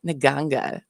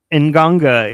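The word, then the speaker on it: nganga: you who don't know it's spelled in a way that never should be uh I'm sure it makes more sense in like a different like you know but it's n g a n g a so it's not in ganga is it doesn't it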